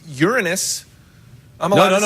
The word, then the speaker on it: Uranus: That's the name of the planet, man. Another pronunciation is Uranus. Hey, yeah. It's a pronunciation. It's a way you can.